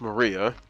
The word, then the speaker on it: Maria: she's a child battler her name is written like that with the with this of course is pronounced Maria the third character looks